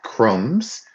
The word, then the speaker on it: crumbs: Some of you have left out the B and the B is silent here.